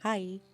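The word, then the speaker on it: はい: This word sounds like he or hi, or hi or hi. However, remember how e sounds like e? The word hai is actually pronounced hai, but since Japanese is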